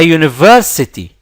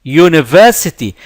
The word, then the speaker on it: university: we say a house only works at a university university notice that this letter here is pronounced yeah and yeah is not a vowel